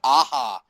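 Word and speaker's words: Aja: on Russell's podcast uh such as David Aha, which I once said as a joke and apparently is the actual way that you pronounce that guy's name.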